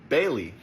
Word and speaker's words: Baali: says, "Stop calling me Baali." And that's translated from Hebrew. And Baali means Lord. Baali comes from the same word that Baal comes from. Baal is actually pronounced Baal, so Baali is just Bailey, basically.